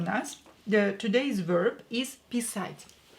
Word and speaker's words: писать: Pay attention to the stress. Here, A is stressed, not E. If you will stress E and you will say писать, that would mean to pee. Here we have to stress A, to the meaning to be to write.